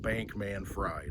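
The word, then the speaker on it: Bankman-Fried: FTX Sam bankman fry that's how it's spelled it so I'm gonna say it Bank man fried I mean come on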